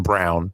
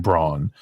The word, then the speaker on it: Braun: playing that role in Christian Brown even though they pronounce his name Braun uh I really like